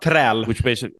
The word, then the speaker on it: träl: How do you say that? Thrall? Yeah. Träl.